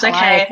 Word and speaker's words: Calliope: You can correct me on the pronunciation, Elizabeth. If I think it's Calliope. It's Calliope.